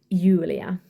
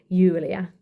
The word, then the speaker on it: Julia: They always said Julia and not Julia, but it's just with one U. So Julia, that's my name. That's how you pronounce it in Swedish, Julia.